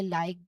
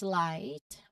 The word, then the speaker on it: light: Okay, notice that there's a silent GH here. So both letters G and H in these words are silenced. Okay, we do not say either light or light or night or night. Okay, we do not we do not clearly say, no, we do not say it at all. We do not pronounce the individual sounds of G and H here.